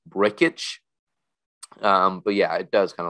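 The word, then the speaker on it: Brcic: I was planning on just calling him Brick, from Anchorman, because that would have been kind of funny. But it turns out his name is pronounced Brickich.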